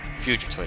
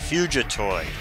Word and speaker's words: Fugitoid: Fugitoid, that's how you say it, Fugitoid.